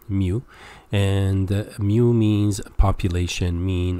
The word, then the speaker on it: mu: so this is Greek mu like the sound of a cat mu and mu means population